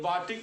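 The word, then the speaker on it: batik: बाटिक जो शब्द है इंडोनेशियाई शब्दों में, इसे इंडोनेशियाई शब्दों में बाटिक का उच्चारण बटीक से किया गया है। क्या कहा गया है?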